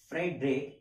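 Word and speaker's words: Friedrich: Fundamental theorem of arithmetic, सबसे पहले एक मैथमेटिशियन जिनका नाम हुआ करता था कार्ल फ्रेडरिक, स्पेलिंग पे मत जाना, फ्रेडरिक FRIEDRIC, Karl फ्रेडरिक Gauss, ठीक है?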